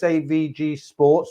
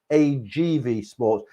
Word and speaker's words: AGV Sports: He's, you know, he runs his business AVG Sports or I always say it wrong. It's AGV Sports.